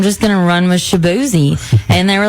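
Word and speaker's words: Chibueze: c h i b u e z e pronounced shabzi but it's spelled differently and if I was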